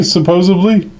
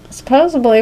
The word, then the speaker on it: supposedly: Satan supposedly or supposedly supposedly supposedly supposedly you say supposedly supposably worse but supposedly we're supposed to go